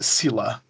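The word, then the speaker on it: Seele: of the first try her name is Sila there is no a there but that's how they say it I hate the English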